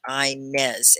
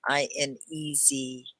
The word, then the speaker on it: Inez: I used to have a grandmother named Inez, and she spelled it like this, I-N-E-Z.